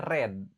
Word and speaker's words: read: Verb 2-nya tulisannya sama. Cuma cara bacanya red kayak merah. Verb 3-nya juga tulisannya sama, cuma cara bacanya red juga kayak merah ya.